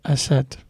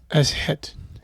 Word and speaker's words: Aset: She is known today by her Greek name Isis. However, the ancient Egyptians called her Aset. That's it. It's wonderful pronunciation. Aset.